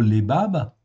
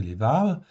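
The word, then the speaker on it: לבב: nos traductions françaises, et le mot lebab, en fait, ici, ou levav, on peut prononcer levav, eh bien, en fait,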